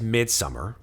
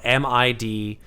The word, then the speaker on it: Midsommar: The first one is Midsummer. So, Still haven't seen that. oh shit. See that movie, yo. Okay. Midsommar, and it's spelled Midsommar, Midsommar. Swedish. It's the Swedish Oh, one.